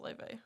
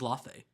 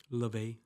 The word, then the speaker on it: Laufey: it's pronounced Leve. Oh, it is? Yeah. Like Levy? No. Well, cause I think she says it more in a better way. I thought it was Lafe. no, Like Lafayette. no. That's No? funny. I've heard her say her name, and she says it a little bit more like Leve.